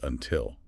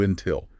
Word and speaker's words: until: By and until. Stress the second syllable. Until Lel. Don't say you until.